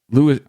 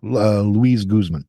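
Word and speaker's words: Luis Guzmán: That's Louis. I don't know if it's pronounced Louis or Louis. I think it's Louis Guzman. Yeah, Luis Guzman. Luis Guzman.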